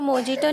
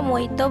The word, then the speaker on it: mojito: अच्छा, इसकी स्पेलिंग से आप इसको मोजिटो पढ़े होंगे, बट इसको मोजिटो नहीं बोला जाता है, इसको मोहितो बोला जाता है, तो इसलिए हम वर्जिन मोहितो बना रहे हैं।